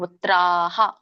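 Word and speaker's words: ಪುತ್ರಾಃ: ಪುತ್ರಾಹ ತಾ ಇದ್ರೆ ಹ ಬರುತ್ತೆ ತ ಇದ್ರೆ ತ ಇದ್ರೆ ಹ ಬರುತ್ತೆ ಇಲ್ಲಿ ತ ಇದೆಯಲ್ಲ ಹಾಗಾಗಿ ಹ ಹೇಳಬೇಕು ಪುತ್ರಾಹ ಪಿತಾಮಹ ಪುತ್ರಹ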